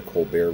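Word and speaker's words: Colbert: If you've seen Co Bear recently, you know that he's pretty liberal. Um, in the Colar Report, which is spelled Colbear Report, he is playing a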